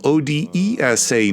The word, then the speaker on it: Odesa: has dropped one of the s's yes Odessa is spelled Odesa not OD SSA no word on whether the